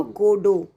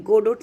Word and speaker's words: Godot: तो उसका आंसर है option A, waiting for गोडो। Pronunciation होगा गोडो, GODOT, गोडोट नहीं होगा, गोडो, टी साइलेंट होगा, ठीक है।